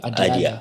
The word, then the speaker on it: Adiyala: Is that how you pronounce it? Yeah. Adiyala.